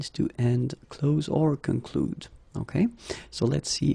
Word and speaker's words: conclu: Concluez, and then here conclu. Okay, keep in mind that even if you put this final ent, so the ending, you don't pronounce it. So phonetically you get conclu, conclu.